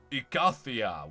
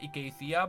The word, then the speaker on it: Icathia: All right, and now we are approaching Icathia, which should be pronounced Icathia, but I'm never gonna change that because I've been pronouncing this for like 15 years.